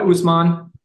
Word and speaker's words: Usman: is his first name is it osum or osum Sil Usman Usman okay make sure I buget